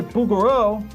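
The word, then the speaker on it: Bouguereau: You think it's bugaroo?" If if the actual French pronunciation of bugaro is like it's a it's the the French throat sound.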